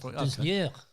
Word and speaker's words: Doznier: Doznier. You have to say it with a French accent. Doznier.